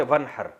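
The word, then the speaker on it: وانحر: हैं अरबी में नहर तो वन असल में था व इन हर पढ़ा जाता है मिला के वन हर तो अलिस अलिफ साइलेंट हो जाता है वन हर फस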